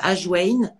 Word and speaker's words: ajwain: Alors, tout simplement, on commence par les papilles dans la bouche, et par exemple, on peut boire un thé de graines de ajwain. Ça s'écrit A-J-W-A-I-N.